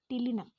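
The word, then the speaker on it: ptilinum: The head of the fly bears a frontal reversible sac called the tilinum. P is silent. Tilinum.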